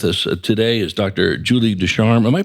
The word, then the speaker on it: Ducharme: Julie Desarm. Am I pronouncing that name correctly?